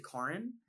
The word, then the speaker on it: Karan: want to say like my name is actually Karen um this is the pronunciation yeah and that's really